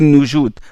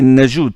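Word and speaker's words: Najūd: Et on dit Asim ibn Abi Najoud parce que certains ils ne prononcent pas bien Najoud, ils disent Noujoud ou Najouad. Non, c'est Najoud, c'est comme ça que ça.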